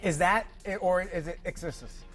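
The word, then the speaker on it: Charli XCX: that or is it exist do you pronounce it or do you say the letters I I believe it's XCX X okay I don't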